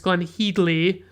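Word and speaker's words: Glenne Headly: which by the way is apparently how you pronounce her name it's glenn headley and she plays iris holland mr holland's wife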